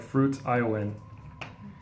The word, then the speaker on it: fruition: Yeah, it's like fruit, I-O-N. But it's pronounced fruition.